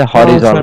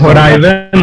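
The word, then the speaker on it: horizon: हो रहा है, जैसे हॉरिजॉन। हाँ, हॉरिजॉन बोलते हैं उसको, तो वहीं से आता है हॉरिजॉन। होराइजन होता है।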